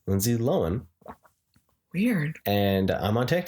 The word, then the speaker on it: Lohan: out that it's not the h is silent lindsay lohan yeah weird